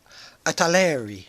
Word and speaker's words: Italeri: you probably notice is italeri I guess is how you would pronounce that and it's made